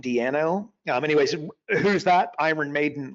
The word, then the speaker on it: Di'Anno: Tell you also, I just read this morning, Paul Di'Anno, I believe is the way you pronounce his last name, Di'Anno.